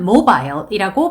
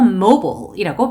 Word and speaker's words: mobile: 이 단어는 mobile이라고 발음하셔도 되고 mobile이라고 발음하셔도 됩니다.